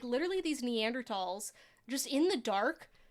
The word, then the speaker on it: Neanderthal: Researching, ago, looking up like the difference between Neanderthals and Homo sapiens, and like Is that how we should be pronouncing Neanderthals?